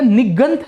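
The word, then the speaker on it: निगंठ: क्योंकि र पाली के अंदर साइलेंट हो जाता है सर, याद रखेगा, आर बिकम साइलेंट इन पाली, है ना, समझे कि नहीं समझे। लोग कहते हैं कि साइलेंट हो जाओ वरना मैं वायलेंट हो जाऊंगा सर, ठीक है। तो पाली भाषा के तहत आपको, पाली लिटरेचर के तहत आपको जो आर है वो एकदम साइलेंट मिलेगा सर, ठीक है।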